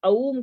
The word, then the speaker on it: ओम: Generally लोग क्या जानते हैं, ओम से मिलके बनता है, ओ और माँ से मिलके बनता है, लेकिन उच्चारण जब करेंगे तो अऊम का करेंगे, है ना।